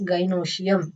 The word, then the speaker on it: gynoecium: So collectively these carpels are known as gynoecium. How to pronounce this, gy, guy, noe, no, cium, cium. Okay, gynoecium.